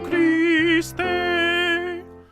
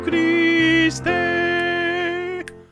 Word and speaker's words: Christe: Domine, Fili, Unigenite, Jesu Christe. Excellent. Well done. Have fun. If you can roll your R's on Christe, that would be greatly appreciated.